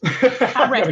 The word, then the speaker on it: RISC: Carling Hay from, I pronounce it RISC. Is it RISC or is it RISQ? Well, we'll take both. Risk, the first one, it's risk.